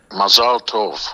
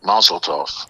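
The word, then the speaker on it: mazel tov: Mazalto or as Americans say mazotov which translated meaning luck good or in English good luck but it doesn't translate well.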